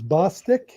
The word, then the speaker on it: Bostick: do you say his name b-o-s-t-i-c yeah James Bostick yep James basket and Darien uh oh that